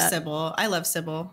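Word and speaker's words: Cibele: No, I was saying I played Cybel, or is it Cybel? Sybil. It's Sybil, but everyone pronounces it differently.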